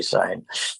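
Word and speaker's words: Cine: Is it Sign? Is that how we pronounce it? Louis Sign. Okay. And I'd look at it and say Sign. Yes.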